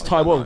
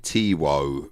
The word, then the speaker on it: Taiwo: yeah, Tai Wo. So don't disrespect the name that It actually my says parents gave me. T-Wo.